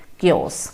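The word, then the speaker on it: chaos: क्योस जिहड़ा है ना इनू तुसीं CH नूं च साउंड ना इत्थे करियो, इहदी करैक्ट प्रोनाउंसिएशन इज़ क्योस।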